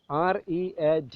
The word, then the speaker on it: read: So we can say that there is no one-to-one relation between writing and pronunciation. ഇപ്പോൾ read എന്ന വാക്ക് എഴുതുമ്പോൾ READ എന്നാണ് എഴുതുക. അത് നമ്മൾ വായിക്കുമ്പോൾ read. പക്ഷേ പാസ്റ്റ് ടെൻസിൽ അതിൻ്റെ ഉച്ചാരണം റെഡ് എന്നാണ്.